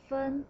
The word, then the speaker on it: 分: And the lower part by itself is a character pronounced as fen, it means separate, but here we borrow the pronunciation only, fen.